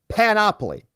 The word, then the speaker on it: panoply: We're correcting the emphasis on the syllable on the pronunciation of the word panoply.